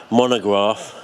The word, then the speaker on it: Montegraph: Yeah, I know, I was just thinking, the way Monograph, well that's the way he pronounces it, even though his channel is spelt Montegraph. It's the silent T in Mozart, isn't it, Yeah, you